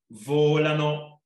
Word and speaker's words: volano: esercizio che si chiama volano posture col gioco di parole volano volare infatti c'è l'accento sulla o un volano così molto